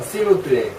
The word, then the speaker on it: s'il vous plaît: 자꾸 종현씨 자꾸 F로 또 발음하지 마요. s'il vous plaît. 뿔레가 아니고 이게 뿔레가 아니고 여기가 사이에 모음이 없잖아요. 그냥 플레이. s'il vous plaît. 이게 곧장 나와야 돼요.